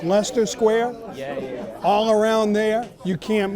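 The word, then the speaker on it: Leicester Square: Pronounced Lester Square all around there.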